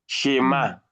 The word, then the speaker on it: schéma: When you have CH or SCH, you shh in French. We have chien, right? Schéma, sushi, but shh.